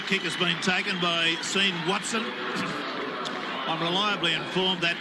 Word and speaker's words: Sean: OK, the goal kick has been taken by Sean Watson. I'm reliably informed that S-E-A-N is Sean and not Sean, not the Irish pronunciation, but there it is.